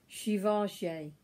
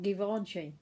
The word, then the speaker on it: Givenchy: in the bottle, and that's by Givenchy. As I know, that is how you pronounce it, and not Givenchy, which is what I used to say.